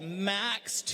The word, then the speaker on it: MX: tell you about this how you spell it just like you see there MX - okay but you say it max max - oh it's